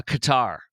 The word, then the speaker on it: Qatar: countries such as uh Qatar or Qatar, depending on who who who you're asking for pronunciation.